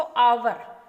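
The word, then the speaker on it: hour: ये भी देखो बच्चों क्या बोलते हैं हम इसको, आवर। तो आवर क्योंकि जो एच है वो इसमें साइलेंट रह गया है और जो साउंड हमारी आ रही है वो वाउल की है, तो वाउल के कारण हमने इसमें एन यूज किया।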